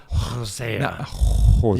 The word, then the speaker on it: Hosea: You have to say it like that. Hosea.